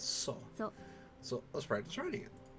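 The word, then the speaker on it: そ: up a single syllable you pronounce this as saw so let's practice writing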